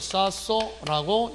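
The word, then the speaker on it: 쌓소: 히읗은 없어지고 시옷이 된 소리로. 그래서 읽을 때 이것을 쌌소라고 읽게 된다는 것.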